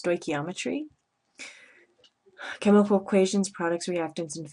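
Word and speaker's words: stoichiometry: this word here is pronounced stochiometry chemical equations products reactants and phases solid magnesium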